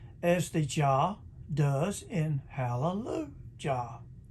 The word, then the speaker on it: Hallelujah: that's elijah and hallelujah hallelujah sounds funny it's pronounced elijah and hallelujah now psalm 68 4 king james version says